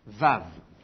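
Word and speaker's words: וו: vave alors en fait dans l'Antiquité elle était prononcée comme le W en anglais et c'est encore le cas aujourd'hui dans la plupart des langues sémitiques qui sont parlées aujourd'hui en il y en a plus beaucoup à vrai dire mais disons l'arabe l'Éthiopien le Syriac euh le le vaave est prononcé en hébreu la prononciation a basculé du au ve alors à quelle époque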